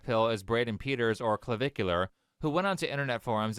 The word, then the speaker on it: Clavicular: So when it comes to online influencer, Clavicular, wait, how do you say that again? Clavicular, or Clav, is what he's also called.